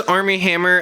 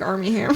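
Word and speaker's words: Armie Hammer: it's spelled weird but it sounds like Army Hammer it it's literally spelled not Army like military but like arm i e and then Hammer what a great name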